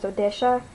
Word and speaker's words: Odessa: So, my mom is Ukrainian, so when she sees the name, she doesn't say Odessa, she says Odesha.